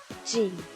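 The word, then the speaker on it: 人: nacionalidad que nosotros tenemos va a cambiar su pronunciación ya no va a ser hito sino que va a ser jin entonces me quisco jin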